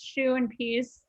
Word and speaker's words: Siuipys: It's Shoe and Peace, something like that.